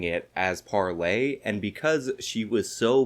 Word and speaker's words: Parler: and unfortunately Lauren Chen was completely incapable of pronouncing it as parler and because she was so bad at it and she kept pronouncing it parlor the entire company actually changed the name of